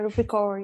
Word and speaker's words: Rupi Kaur: I think her name is Rupi Kaur. How do you say it? How do you say her name? Is that right? Yeah, Rupi Kaur, yeah.